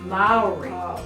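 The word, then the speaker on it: Māori: are Maori and that's how you say it Maori we had a honey dinner and that's how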